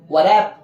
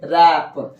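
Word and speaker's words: wrap: आप क्या पढ़ेंगे बताइए ब्लू आर ए पी क्या पढ़ेंगे वर्प गलत हो जाएगा ब्लू को साइलेंट कर दीजिए क्या पढ़िएगा यस रेप है ना इस तरह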